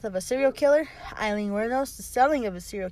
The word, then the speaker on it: Wuornos: Wuornos. That's how you say it. Wuornos? Wuornos.